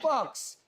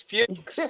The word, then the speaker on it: Fuchs: was Fucks. It's Did you really? Fuchs. Nah, it's Fuchs.